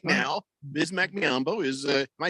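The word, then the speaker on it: Biyombo: some time with it but right now bismack mccombo is uh am i saying it right yes bismack biambo this might be my favorite teammate i mean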